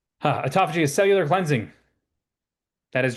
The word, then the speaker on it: autophagy: I used to call it autofaggy because science words are hard to pronounce and phes.